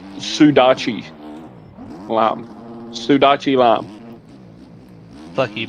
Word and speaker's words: sudachi: And it's pronounced Sudachi lime.